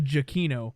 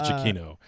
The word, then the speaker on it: Giacchino: Giacomo, how does he pronounce it? It's actually Giacchino, believe it or not. It is Giacchino.